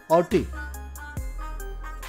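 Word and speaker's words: haughty: देखिए पहला, फर्स्ट क्या दिया है, ऑटी, एच साइलेंट होता है, ध्यान रखेंगे, ऑटी, ऑटी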